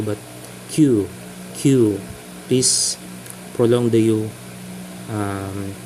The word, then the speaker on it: 九: a prolong U uh please emphasize in your pronunciation it's not just Q as in letter q but q q please prolong the you um please uh make